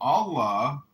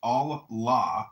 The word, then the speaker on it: Allah: The god in Arabic will be Allah pronounced Allah or Allah which is simply God with a capital G.